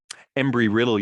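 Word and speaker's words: Embry-Riddle: civilian astronauts at the university uh sorry uh embry riddle university is how you say it in daytona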